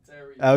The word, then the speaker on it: Theriot: Theriot.